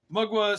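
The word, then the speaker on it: Mgła: Blaze mugwa and exordium mugwa spelled mgla or it's not not really an L it's some kind of Polish character I guess uh I've heard it's pronounced mugwa so if I'm wrong please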